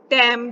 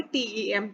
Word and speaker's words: TEM: तो transmission electron microscopy की जब बात चल रही है, टैम जो बोलते हैं, या TEM, वैसे टैम सैम ये सही नहीं माना जाता, इसको प्रोनाउंस हमेशा SEM और TEM किया जाता है, ठीक है।